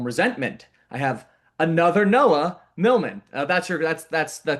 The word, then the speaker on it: Millman: I have another Noah Milman. That's your that's that's the correct way to pronounce it, right? Milman.